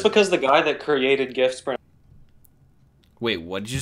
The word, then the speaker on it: GIF: just because the guy that created GIFs... Wait, what did you say? Just because the guy that created GIFs pronounces it wrong, you have to.